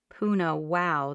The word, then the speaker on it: Punahou: it wrong puna wow she pronounces it like puna wow the second time your old high school